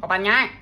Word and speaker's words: Koh Phangan: We are in Koh Phangan. Phangan. Koh Phangan. That's how you say it, according to our driver.